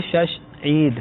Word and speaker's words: شش عید: نسل چلتا رہتا ہے۔ تو اصل لفظ ہے شش عید۔ ٹھیک۔ تو یہ شوال